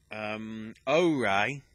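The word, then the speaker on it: Oure: And then the final 2 things, Ore, spelled O-U-R-E, because apparently that's how it's pronounced, It looked very nice.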